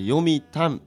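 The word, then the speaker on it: 読谷: んですけども本を読むの読む読む読みで山谷川の谷読む谷と書いて読みたんと言います沖縄にはこう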